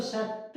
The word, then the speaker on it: sette: से, से, cinque, sei, sette। अच्छा, ये जो सत्ते है ना डबल टी के साथ, इसका मतलब है सेवन, और अगर एक टी के साथ हो सत्ते तो उसका मतलब होता है प्यास।